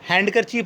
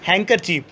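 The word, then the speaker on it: handkerchief: और हैंडकरचीफ नहीं होता है, हैंकरचीफ, ठीक है।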